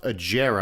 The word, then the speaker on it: Agera: And then they also brought in an extremely rare and awesome Koenigsegg, it's actually pronounced Agera, I found out.